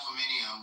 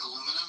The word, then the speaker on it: aluminium: Unlike the British saying aluminium when it's not actually spelled, did they actually spell it different?